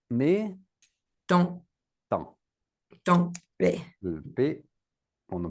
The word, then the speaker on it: temps: Donc rappelle-toi pas temp mais temps. Temp on ne prononce pas le temps.